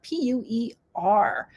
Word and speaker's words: Pu'er: And there's also pu'er teas, which are a specialty tea from China.